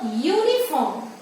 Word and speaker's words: uniform: When you pronounce this word uniform, the spelling goes as Y-O-O. So it is Y is a consonant letter and therefore we say a uniform.